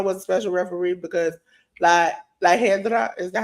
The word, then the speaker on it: La Hiedra: Iguana was a special referee because La Hedra, is that how you pronounce it?